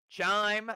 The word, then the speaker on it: Chime: Chime rhymes with dime.